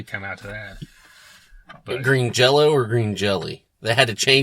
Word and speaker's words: Green Jelly: said but it's pronounced Green Jello so even though it's spelled green jelly it's still pronounced Jello they they they could